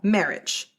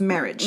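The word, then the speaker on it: Merhige: Gathering along with mural's Aunt Carol and Michael marriage so it's spelled m e r h i g e but it's pronounced marriage marriage okay you know what I was saying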